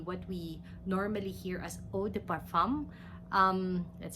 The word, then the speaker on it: eau de parfum: level would be what we normally hear as Oh de parfum that's how it's pronounced it's a higher category because it would